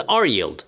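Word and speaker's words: RYLD: 2000 ETF ticker symbol r yld d and pronounce as R yield as you can probably guess it follows the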